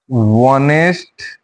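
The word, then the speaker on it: honest: silent হয়ে থাকিব এ অনেস্ট person অনেস্ট person এতে এইচ আছে এইচ এর উচ্চারণ হওয়া নাই এইচ টু কিন্তু শোনেন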